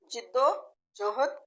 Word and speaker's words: جد و جہد: جد و جہد بھی کہہ سکتے ہیں، جد و جہد بھی کہہ سکتے ہیں، لیکن جیم کے نیچے زیر ہے. جد و جہد، جد و جہد.